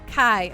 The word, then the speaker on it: Chi: Oh, Nekomichi, Key, not X, it's Key, the Greek letter, sometimes pronounced Kai.